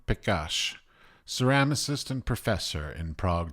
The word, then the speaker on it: Pekar: Pronounce your name correctly for me. Pekar. Pekař? Pekar.